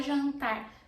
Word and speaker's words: jantar: Eu vou fazer o jantar. Jantar is dinner, the noun, so I am pronouncing the R for this, but I'm not pronouncing the R for the verb, okay?